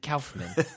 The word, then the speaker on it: Kaufman: He was on Why the Face with Mark Maron, and he was pronounced it Kaufman.